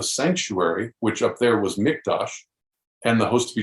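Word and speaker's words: מקדש: the word there it's mikdash and uh if you you know i said with a q but it's actually a k the way you pronounce it and uh notice that word mikdash okay well when the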